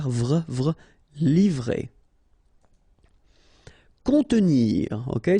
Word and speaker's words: contenir: Contenir. Okay, so here we've got this O and N together, so nasal, on, and then E. Contenir.